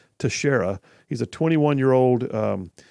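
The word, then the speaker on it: Teixeira: in the middle but apparently his name is pronounced Tashara he's a 21 year old resident of North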